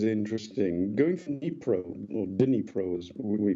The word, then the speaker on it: Dnipro: Going from Dnipro, or Dnipro as we pronounce it, it's the 4th largest city in the country.